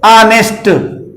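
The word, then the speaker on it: honest: और देख लीजिए ऑनेस्ट, पढ़ा ये जाएगा ऑनेस्ट, आ से इसका भी उच्चारण हो रहा है, ऐन लगाएंगे।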